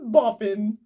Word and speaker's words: Boffin: Tim said often boffin boffin rhymes with coffin Jim is that your conference name it is jim cried my coffin name is boffin with a snap his